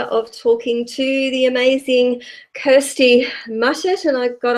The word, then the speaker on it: Kirstie: or of course in the kitchen so welcome Kirsty thank you thanks so much for having me and you pronounce my phone on perfectly which of incredible